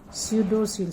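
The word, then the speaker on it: pseudocoel: स्यूडो जो term आता है ना, पी साइलेंट है, स्यूडोसील।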